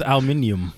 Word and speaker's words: aluminium: It's Don't do pronounced aluminium. aluminium. Aluminium.